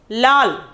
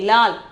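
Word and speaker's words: लाल: Then the seventh one is lal. Okay, lal. Pronunciation is lal.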